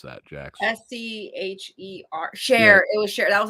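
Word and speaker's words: Scher: guy his name was s-c-h-e-r how do you pronounce that Jackson s-c-h-e-r share it was sure that was his last name share share right okay so this again instead of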